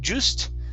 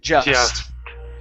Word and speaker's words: just: just okay right here instead of juiced okay it's an uh sound just just okay okay so